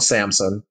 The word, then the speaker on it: Samson: CHIKA, album, it's called Samsung, SAMSON. I know I got an accent, so I got to spell it out for y'all.